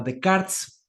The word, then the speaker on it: Descartes: hacer René de Karts o bueno se escribe de se pronuncia de Karts en René de cartes Descartes ordené de Cars un